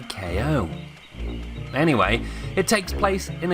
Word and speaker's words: Kao: The characters pronounce it Cow, but I can't help but think it should be KO.